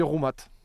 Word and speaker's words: Roumat: dans le chat que la première question c'était est- ce qu'on dit rou ou Rouat alors on dit Rouat dans les dans les Landes dans mon pays natal on prononce on prononce l'été Labat trouat tu Prat donc voilà tout le